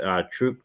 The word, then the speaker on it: Tuchel: And they brought in, sorry, I can't pronounce his name. Is it Tuchel?